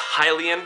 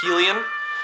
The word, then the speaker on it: Hylian: Kokiri Forest um um it would be pronounced Hylian so I know some people out there pronounce it helium um it would be